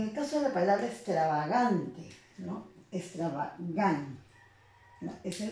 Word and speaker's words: extravagante: En el caso de la palabra extravagante, ¿no? Extravagante, ¿no? Esa es la sílaba que tiene mayor intensidad y se vuelve